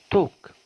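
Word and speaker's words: talk: طبعا هنلاحظ ان حرف ال ما اتنطقش، لان القاعده تقول حرف ال لو كان قبله حرف متحرك فان في هذه الحاله يكتب ولا ينطق، بس طبعا يتكتب. فهنا طبعا اسمها توك، ما اقولش تلك، لا اقول ايه؟ توك.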